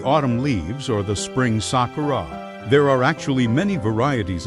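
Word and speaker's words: 桜: In Japanese, cherry blossom is pronounced Sakura.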